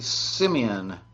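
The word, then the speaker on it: Simeone: feeling so good bye Kenny B Simeon I think that's how it's pronounced Syme one s IM e o NE i'm calling that simeon feelings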